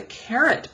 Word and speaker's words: caret: And it's not carrot spelled the same way as a vegetable. It's spelled differently in math, and it means look for this symbol, sort of shaped like a tent. It's called a caret.